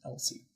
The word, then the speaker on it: EL-513: because it was so it's EL-513. So they're trying to use numbers like their letters. So it's Elsie.